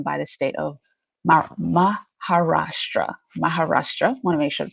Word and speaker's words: Maharashtra: Maharashtra, want to make sure to pronounce that correctly, which is the western state where Mumbai is located.